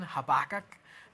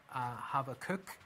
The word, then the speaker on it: Habakkuk: So the prophet we're going to look at tonight is Habakkuk, or if you're American, Habakkuk, they pronounce it as. Or I think in the Hebrew, I think the correct pronunciation is Habakkuk, actually.